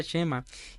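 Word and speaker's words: שמע: además de este cham hay un Chema se pronuncia Chema que significa escuchar que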